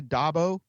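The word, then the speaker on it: d'Abo: I mean, maybe Wilt says a couple things, and then Olivia Dabo, is that the right way to say that? Yes, Dabo?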